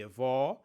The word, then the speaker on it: avó: The difference between "avô" and "avó" depends on the size of the mouth when we pronounce ô and ó. In "avô", the mouth forms a small ô while in "avó" the mouth forms a large Ó.